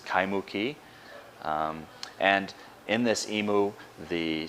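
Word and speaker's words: Kaimuki: or an imu ki, such as the town in the edge of Honolulu called Kaimu ki, often mispronounced as Kaimu ki.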